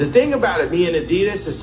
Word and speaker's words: Adidas: A lot of people don't know it's actually pronounced Adidas.